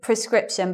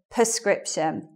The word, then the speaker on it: prescription: e base of them but the first syllable sounds like this well actually prescription but a lot of people say it like this perscription and I think that happens because they're they're putting the stress in a different place they're putting the stress